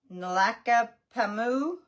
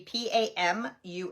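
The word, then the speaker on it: Nlaka'pamux: So on Manitoba and Jennifer Grenz is Oh, this is gonna be hard to say. Naka Pamu. It's N L A K Apostrophe P A M U X, but I'm going to say Pamu as maybe the X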